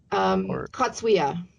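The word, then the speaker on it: Cogewea: And how do you pronounce the name of the book here? Kagewa? Katsuya.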